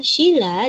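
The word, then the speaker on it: śīla: Kemudian sila dengan i, pengucapan vokal i panjang, artinya peraturan tingkah laku yang baik, yang penting, atau yang senonoh.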